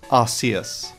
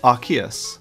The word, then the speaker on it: Arceus: changed a generation later the pronunciation of this pokemon originally was arceus however was changed to arceus probably due to the r sound it made this pronunciation was made even more official given the rks system introduced in gen 7.